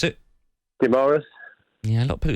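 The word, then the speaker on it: Guimarães: How do you pronounce it? Guimaraes. Yeah, a lot of people... It's Guimaraes.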